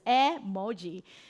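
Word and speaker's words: 絵文字: And did you know by the way uh emoji actually the actual pronunciations of emoji in Japanese is emoji and it's actually three Chinese characters.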